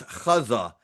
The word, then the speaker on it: Gaza: And I remember a doctor being interviewed and she referred to Gaza as Khaza. I said, "Wait a second, that's how the Gazins pronounce it."